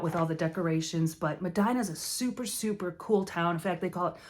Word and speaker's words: Medina: Funky Cold Medina so I know people always mispronounce it Medina because of that song but it's not it's Madina so Medina's awesome check